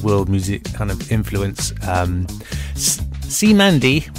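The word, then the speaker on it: Cymande: That was, I've been calling them Cyamide, C-Y-M-A-N-D-E, but I've been pronouncing it wrong, and it's called, pronounced C-Mandy, and may not have sounded like it, but they're a British funk group.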